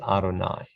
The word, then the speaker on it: Adonai: yud with a uh next to it is pronounced adonai and now i think we're going to move